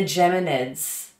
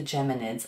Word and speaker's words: Geminids: Spell it properly. There we go. The Geminids. The Geminids.